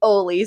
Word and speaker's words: Oli: But anyways, most people in this area know how to pronounce Oli, unless you are Mexican Spanish and you're used to the Ole.